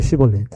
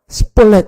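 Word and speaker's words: שיבולת: 근데 이것을 발음을 못해서 십볼렛 이렇게 하거든요. 그러니까 원래 십보르는 그 히브리어 신 이것을 시작하고 이거 발음이 안 돼서 십볼렛 이것은 싸맥으로 시작해. 싸맥.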